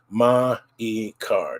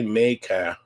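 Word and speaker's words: マイカー: Ma-i-ka. Don't say me-ka. Ma-i-ka.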